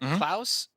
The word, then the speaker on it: Klaus: tell you what with Klaus you know what Klaus does rhyme with mouse right and what Chase